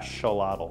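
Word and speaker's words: axolotl: from in Mexico but they pronounce it in Mexico as shalad and this is one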